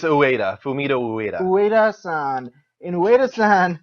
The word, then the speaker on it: Ueda: Uede? It's Ueda, Fumito Ueda.